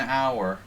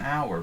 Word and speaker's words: hour: grammar rules yeah an hour exactly an hour but the h is silent so that's a silent